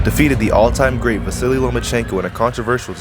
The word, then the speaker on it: Lomachenko: I think you said his name wrong. It's Lomachenko, because he doesn't want to fight me.